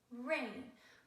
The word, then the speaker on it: rain: So, r-a-n, rain. We don't pronounce it r-a-n. We put the A and the I together to say the long A sound, and we say r-ain, rain.